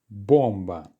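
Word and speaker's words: бомба: two syllables now and because of this little accent symbol at the top we know that it's the first one that's being stressed so that letter or is going to be clearly pronounced there are no more letter or in this words to worry about so we don't need to think about any reduction the pronunciation will therefore be all right bomba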